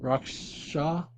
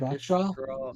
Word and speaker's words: Rakestraw: I don't even know how to say it. Rockstraw, yeah, Rockstraw. Rakestraw.